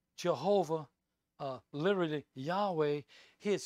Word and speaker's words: Yahweh: spelling of god's name the tetrathon gone and pronounced yahweh from which we later derived jehovah and i'll